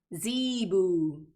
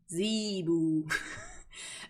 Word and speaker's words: zebu: Google how to pronounce cebú. Zebu. Seriously, like the animal's pronounced like that? Zebu.